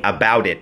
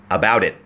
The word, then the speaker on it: about it: ออก เสียง แบบ นี้ about it ก็ คือ ตัว T ของ นะ ฮะ about จะ เชื่อม กับ it นะ ฮะ กลาย เป็น about it about it นะ ฮะ about it